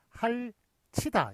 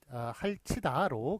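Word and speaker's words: 핥이다: 티읕이 뒤로 넘어갔을 때는 예, 그렇게 할치다로 그렇게 발음이 됩니다. 예, 구개음화가 일어나서 할치다로 구개음화가 일어나서 할치다로 발음이 됩니다만 그렇지만 쓰는 거는 할티다 이런 식으로 써줘야 맞는 것입니다.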